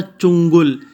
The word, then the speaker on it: چنگل: تلفظ واضح کرو۔ تو پہلا تھا چنگل، چے کے اوپر پیش، نون کے اوپر جزم، گاف کے اوپر پیش اور لام کے اوپر بھی جزم۔ سمرات، سا کے اوپر